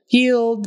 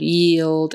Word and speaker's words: yield: another one but anyway yield the IE is spelled with a long e sound yield and a d don't